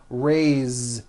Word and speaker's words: raised: a bit unusual because even though it is spelled with an S it's pronounced with a voiced Z raised so we say I